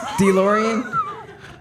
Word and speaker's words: DeLorean: So you go into that DeLorean. Am I pronouncing it correctly? No. DeLorean.